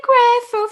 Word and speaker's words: grateful: Learning to be grateful for myself. Grateful. Esse T não é muito pronunciado, não.